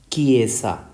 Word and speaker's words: Chiesa: It contains the letters CHI, so this word is pronounced as Chiesa.